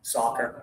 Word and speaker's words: soccer: So, this is the sound of ah ah ah soccer.